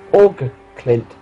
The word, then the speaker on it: Åkerklint: Like the Americans say, awesome. Åkerklint. Yeah, awesome. Åkerklint. Awesome.